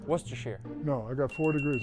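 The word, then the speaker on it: Worcestershire: Worster sire sauce. You were close. Worcester.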